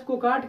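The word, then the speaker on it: cacti: और यदि उसमें से हम एक ब्रांच को काट के अलग कर दिए तो वो क्या हो गया, केक्टी कह लीजिए आप, तो या आप केक्टाई कह लीजिए, आप ऊपर है जिससे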